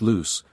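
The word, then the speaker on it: Loups: four distinct bands viz the loops pronounced loose the Republicans the topich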